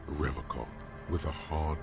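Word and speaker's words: Revachol: i can't even pronounce the name right he pronounces rivercock with a hard k unlike other people you said rivercon i like to pronounce it the hard way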